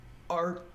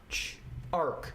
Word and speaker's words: Arch: this up so there is this company called arc arc it's called arc it's spelled the arch like AR CH but you